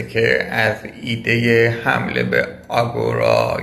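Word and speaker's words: ἀγορά: از ایده حمله به آگورا یا به تلفظ لاتین باستانی آتنی خودش اگورا دفاع می‌کنم و اون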